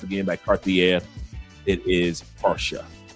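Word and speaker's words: Pasha: And I know Cartiera is not how you pronounce it in French, but it's para. P A R S H A para col.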